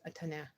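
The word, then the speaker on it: taon: A tan. T. That's how you say it in French.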